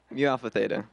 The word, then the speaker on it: Mu Alpha Theta: Mu Alpha Theta.